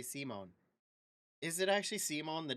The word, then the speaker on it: Simon: Pronounced Simone is a mangaka in another universe.